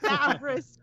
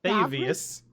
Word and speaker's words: Davius: Davris Krieg, is that how you say it? Davius. It's Davius. Oh, of course.